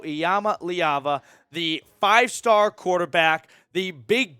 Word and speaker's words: Iamaleava: quarterback from California Nico iyama liaba pronounce that name and practice it because you're going to be hearing it and saying it a lot Nico iyama liaba the five-star quarterback the